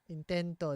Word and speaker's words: intento: just before it int now this is extremely important if I say int if I put the accent on the end it means something else it means he tried